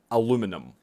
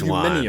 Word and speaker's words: aluminium: Number 1 is they pronounce this word aluminum. Not this Aluminium one, bro.